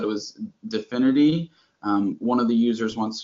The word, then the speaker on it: DFINITY: Like infinity, but spelled with a D with no I.